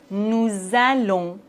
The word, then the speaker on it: nous allons: La liaison entre un pronom personnel et un verbe, comme par exemple, nous allons, vous écoutez, ils aiment. On doit faire la liaison, c'est obligatoire. Nous allons, vous écoutez, ils aiment.